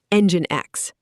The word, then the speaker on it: NGINX: Now meet NGINX, pronounced NGINX.